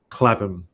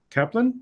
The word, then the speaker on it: Clapham: Rishad was like, "You're pronouncing her name wrong." Clapham. I kept saying Kaplan?